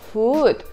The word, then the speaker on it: food: Например, в слове «good» звук краткий «у», а в слове «food» звук длинный.